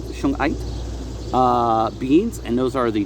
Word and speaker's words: shungite: I always want to say Suge Knight like the rapper. It's shungite, I believe, shungite beads, and those are the darker beads there.